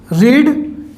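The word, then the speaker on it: read: आएगा पुट्स ऐसे ही रीड actual में जो इसको तो हम पढ़ते हैं रीड लेकिन इसकी जो सेकंड फॉर्म होती है स्पेलिंग तो सेम है लेकिन इसको पढ़ते हैं रेड ठीक है ऐसे ही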